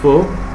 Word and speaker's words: faux: In general, consonants found at the end of a French word are not pronounced, like faux. Okay, it's pronounced as faux.